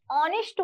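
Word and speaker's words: honest: ही is dashed ऑनेस्ट, ऑनेस्ट word जो दिख रहा है एच, अंग्रेजी का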